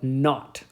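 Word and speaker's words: nought: a subscript zero after it uh but we pronounced this zero uh like We're British we don't call it zero we call it not like n a ght so this is called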